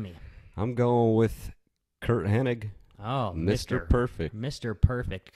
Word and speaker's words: Hennig: Now you got to get No second N. It's not Henning. All you idiots are always calling him Henning. His name was goddamn Kurt Hennig. Hennig. It's a hard G. Hennig.